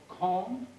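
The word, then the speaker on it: kon: not only called a boat sometimes it's called calm k-o-n or k-u-n when you get real good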